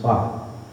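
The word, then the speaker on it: 八: The reason is is eight is pronounced ba and the pronunciation for wealth and prosperity is ba.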